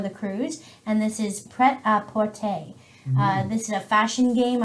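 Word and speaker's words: Prêt-à-Porter: Or Pret a Porter. I just hear people pronounce Very it English.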